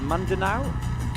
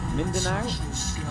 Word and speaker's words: Mindanao: And um Seg Fred says, "I'm sitting here in the is that Mandana?" Mindanao.